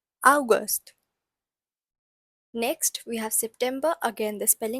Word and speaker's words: August: So, spelling is again the same, but it's pronounced as August. August.